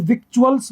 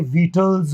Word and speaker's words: victuals: इसको देख के ऐसा लगता है जैसे विक्चुअल्स बोला जाएगा, विक्चुअल्स, VICTUALS, विक्चुअल यानी खाने पीने की सामग्री, आहार सामग्री। तो विक्चुअल्स नहीं होता, ये वीटल्स होता है, वीटल्स, खाने पीने चीजें, वीटल्स।